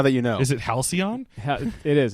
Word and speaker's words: halcyon: So to Brad, yes, it's halcyon.